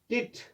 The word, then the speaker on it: debt: DEBT, डिबिट नहीं है, डिट, डिट, इसमें बी साइलेंट रहता है.